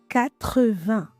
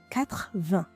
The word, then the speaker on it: quatre-vingts: is even more surprising quatre-vingts literally four times twenty did you notice I didn't say "quatr-vingts" but I pronounced each syllables qua-tre-vingts ninety is quatre-vingt-dix literally